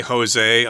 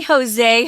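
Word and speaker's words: José: tomorrow yeah no way Jose Jose is a Mexican name Jose j-o-s-e and we do it because it Rhymes it sounds fun no way Jose so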